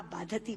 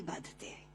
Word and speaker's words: बाधते: कष्ट दे रहा है, क्योंकि बाधती शब्द का अशुद्ध उच्चारण आपने किया है। ये शब्द बाधते होना चाहिए। भारम न बाधती राजन यथा बाधती बाधते।